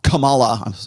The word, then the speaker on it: Kamala: nancy pelosi and even camel uh kamala kamala i gotta say it right uh your new pr